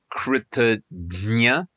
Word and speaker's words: kṛtajña: The first word is kṛtajña, and the second word is kṛtagna.